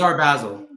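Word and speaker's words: Art Basel: Miami uh our next event will be during Art Basil on December 6th. Oh, I'll bring a banana with duct tape. Yeah, we can make $5 million. Is it Art Basil or I Basil? It's our Basil.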